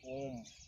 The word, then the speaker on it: ओम: शाश्वत ध्वनि है और ओम का उच्चारण लेकिन गलत तरीके से लोग करते हैं रोज वाला जो पार्ट है उसको बहुत डर तक उच्चारण करते हैं और मां को बहुत छोटा सा लेकिन होता यह है की मो वाला पार्ट जो होता है लास्ट वाला उसको ज्यादा डर तक करना चाहिए और धीरे-धीरे उसकी जो